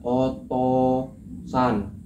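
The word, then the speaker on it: お父さん: Jadi otouusan itu tulisan tulisan Jepangnya kan Otusan. Terus cara bacanya otosan.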